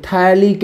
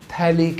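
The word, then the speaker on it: phthalic: तो इसका नाम आप लेंगे थैलिक एसिड। क्या कहलाएगा? थैलिक acid. पी साइलेंट रहेगा, ठीक है।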